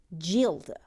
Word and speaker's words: Gilda: i'm sure uh the pronunciation of gilda is like jill in congeal jilda like rigoletto's daughter that's interesting uh my